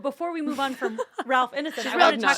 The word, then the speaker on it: Ralph Ineson: Because there's Ralph Ineson, that's how you say his name, who was in Game of Thrones and Chernobyl and Another Year.